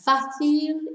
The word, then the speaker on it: fácil: So, the accent on the first A, or the only A in fácil, tells us to stress the first syllable.